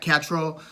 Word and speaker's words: Catterall: junior welterweight titles against jack catarrhal or if you prefer the uh the english pronunciation jack catrell yeah and an american looks at the word and basically says cataral like adderall you know it's like the